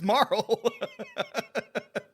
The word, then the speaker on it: Marle: It's Marl. It's Marl. It's Marl. Her name is Marl. Her name is Marl. And that is not up for debate. It is Marl.